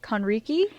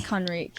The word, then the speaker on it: Conrique: Yeah, everyone usually says it Conrique. Conrique. But it's Conrique, yeah.